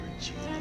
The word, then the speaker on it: Regina: Still gotta go talk to Russ, 'cause friends with Regina. That's how you pronounce her name.